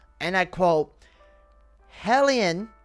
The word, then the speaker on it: HALIENE: I saw this comment yesterday, and it says, and I quote, "Halienne, remove A, alien, remove A, not spelled with H, Halienne."